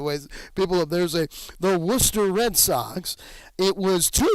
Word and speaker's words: Worcester: call it norfolk and then it is not warchester what's the it's worcester so it was the norfolk tides in a